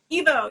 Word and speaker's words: Evo: Is it Evo or Ivo? Evo, yeah, Evo Dominguez.